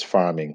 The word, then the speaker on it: pharming: Okay, so using farm animals like that to produce medicines is known as farming, where it's spelled PHARMING.